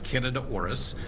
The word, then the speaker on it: Candida auris: Um the the fungus that you're talking about is Canada orus.